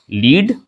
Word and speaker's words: lead: Example जो मैं आपके सामने रखने वाला हूं वो है LEAD, लीड और लेड। दोनों सही है। जी हाँ, इसे लीड भी पढ़ेंगे और इसे लेड भी पढ़ेंगे।